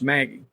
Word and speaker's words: McGee: Jags were from Britt Maggie out of or McGee I I think it's pronounced Maggie I'm pretty sure James Mills um he